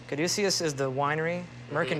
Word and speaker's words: Caduceus: Caduceus is the winery. Mm-hmm. Merkin Vineyards are the vineyards. Merkin Vineyard. And you're not, you don't have a problem that your winery, the middle syllable almost sounds like douche?